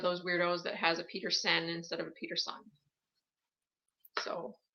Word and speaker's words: Petersen: My last name is spelled with an E-N. For all of those that are new to me, it is not Peterson, it's Petersen.